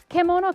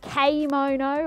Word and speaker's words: kemono: Now, it is pronounced kemono in Japanese. So none of this keimono or kaimono or kimono anymore, or kemono.